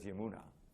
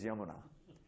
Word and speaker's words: Yamuna: course the Yamuna River is spelled with a long A at the end, so you have it's actually Yamuna River, right? And everyone says Yamuna, or Yamuna. But really it's Yamuna.